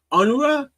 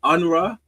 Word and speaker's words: Unruh: First, we're gonna get to know Howard Unruh. First, we're gonna get to know how to say his name, and then we're gonna do. Hold up. Got it. Shut up. Unruh. Unruh. It's almost Japanese.